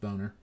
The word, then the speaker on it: Boehner: this chance to say that his name is pronounced Boehner off yeah yes let's remember